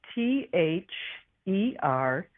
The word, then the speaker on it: Theres: My It's spelled T H E Res.